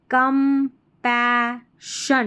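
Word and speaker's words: compassion: I guided guided by कंपैशन [नाक से की जाने वाली आवाज़] double S आई ओ एन को शन कंपैशन कंपैशन नहीं कंपैशन कंपैशन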